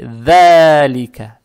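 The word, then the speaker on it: ذَٰلِكَ: Теперь эту фатху, которая над буквой «даль», мы должны тянуть два раза за счет вот подсказки. Подсказка – это маленькая прямая палочка, то есть это «маттоби'и». Получается «фи далика», «да», не «далика», а «далика». Теперь фатху тянем два раза,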